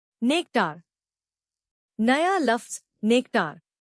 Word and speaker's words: nectar: नया लफ्ज नेक्टार। इसको तोड़ते हैं नेक्टार। जोर नेक पर है।